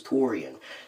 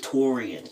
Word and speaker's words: Tau'rean: So I'm like, my name is Torian. Like if you can't even pronounce my birth name, go with Torian. It's easy. Torian. just go with it.